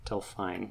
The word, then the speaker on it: Delphine: this pronounce it she's British how do you spell it d elph ine pH ine oh okay tell fine Brian D seer pink hair yes so I